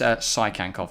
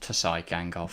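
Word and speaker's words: Tsygankov: By the way, it is Sykankov, not Tyskankov. Sykankov. Yeah. Okay. It's just like Sonoda. So you don't pronounce the T.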